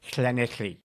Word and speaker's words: Llanelli: Okay, so the double L sound in Welsh is so you have to be a bit guttural. Oh. So Llanelli.